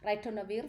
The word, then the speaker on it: ritonavir: or ritonavir in the ritonavir, that's how the pronunciation, ritonavir from the protease inhibitor.